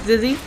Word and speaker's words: Zizzy: Yes, I have asked I try to ask the players how to say their names, and I've been told it's Zizzy.